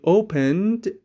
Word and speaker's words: opened: She opened the jar. Opened ای به شکل د تلفظ میشه.